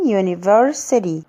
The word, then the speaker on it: university: بس مثلا في كلمة زي كلمة university مش هينفع اقول an university رغم ان اليو is considered as a vowel letter، بس هو هنا we say its name not its sound.